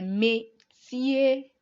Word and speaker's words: métier: Les métiers. So for our métier, we have the accent aigu there. Can we hear the A sound?